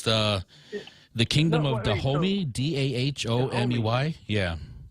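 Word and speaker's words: Dahomey: is the name of the country I can't pronounce it it's the the kingdom of the homie d-a-h-o-m-e-y yeah the homie oh okay so so is Damon Wayans in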